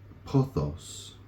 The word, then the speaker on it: pothos: aristobulus put his travel and expansion down to posos longing so that spelled p t h oos pothos longing he wanted to go beyond anything and